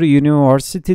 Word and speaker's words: University: şekilde üniversite kelimesinin İngilizcesi ile yazılır ama okurken ya yıl okunur University diye bir üniversite derken bu